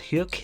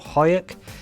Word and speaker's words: Huyck: in 1986 directed by I think it's Willard huk is how he say his name or hyuk and starring Leah Thompson